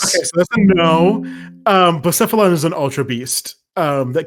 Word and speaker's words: Blacephalon: Blacephalon is an Ultra Beast that came out in the Ultra Sun and Ultra Moon. How do you spell that? It's like Blast. BLA. Oh, okay.